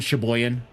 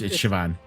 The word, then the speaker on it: Siobhan: I don't call Siobhan Sheboygan. It's Siobhan. Soypan, or however people pronounce it.